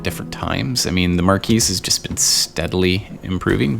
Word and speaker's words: Marquise: And I know it's not pronounced Marquis. That would be, if it's a man, it would be the Marquis. Duh. But since it's the feminine form, that is indeed Marquise de Cat.